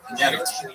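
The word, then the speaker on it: Iñárritu: And Inyaritu, you have to say his name right. There's an accent on the name. Can I try? Inyaritu. No, wait. Pretty good. That was good? Yeah. Inyaritu? Inyaritu.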